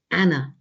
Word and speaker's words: Anne: her name is soon shortened to anne um pronounced in the continental way as anna i find this picture